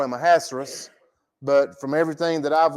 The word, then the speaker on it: Ahasuerus: I know a lot of times we just call him Ahasuerus, but from everything that I've listened to and read, that his name is pronounced Ahasuerus.